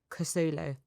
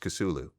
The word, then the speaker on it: Kousoulou: I'm like, Kousoulou. Just Kousoulou.